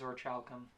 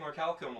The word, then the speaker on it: orichalcum: It is orichalcum. Holy shit. Yeah, I don't ever. I've been saying orichalcum like forever. I mean, that is also a valid pronunciation, and in a lot of like fantasy settings, it might even be like ORC. Like, they will remove the H.